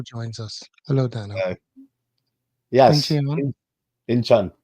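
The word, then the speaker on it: Incheon: When I first came to Korea, I was like inchion. But how do I pronounce that? It's basically like a short u, but they kind of uh romanize it as eo.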